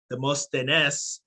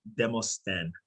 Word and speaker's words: Demosthenes: And Demosthenes is actually Demosthenes, which is a historical Greek name, pronounced in French, Demosthenes.